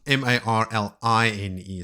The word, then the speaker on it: Marline: heard very much but marene is one of the six wise ones traveling with parin but it's spelled m a r l i n e so it's like marline just a weird RJ spelling and toand if you